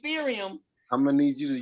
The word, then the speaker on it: Ethereum: ] everybody talking about urethium whatever the hell that is sirium yeah eureka uretha i'm gonna need you to pronounce these words correctly what is it ethereum i'm gonna need you